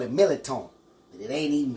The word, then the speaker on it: mirliton: This is basically what it's called, but at home we call it Mirliton. But it ain't even spelled that way. It's pronounced Mirliton.